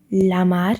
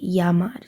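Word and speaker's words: llamar: about Spanish is that whenever we have the double L's you don't say Lamar you say yamad so the Double L is pronounced as a y just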